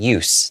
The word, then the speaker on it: use: But usually when it's in the noun, we pronounce it with the S sound, use, the use of the dye.